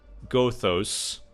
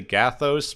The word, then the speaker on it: Gothos: Next week's episode is the Squire of Gothos with 2 O's. So I think they've heard it say Gathos, but it's spelled Gothos. So it's like Otho from the Beetlejuice movie, except with more letters.